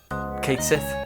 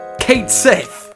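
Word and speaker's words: Cait Sith: the least favorite character Kate Sith or what is it kaii or whatever it's pronounced Kate Sith how it's spelled useless uh double crossing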